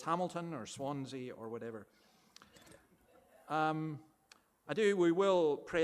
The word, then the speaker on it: Swansea: Some of you think you live in a sea that has lots of swans, so you say Swan Sea, whereas those of us